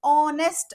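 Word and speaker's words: honest: okay so अनन आवर तसच ऑनेस्ट अस म्हणतो आपण ओ पासून याचा उच्चार चालू होतो एच हा इथे सायलेंट आहे एच फक्त नावासाठी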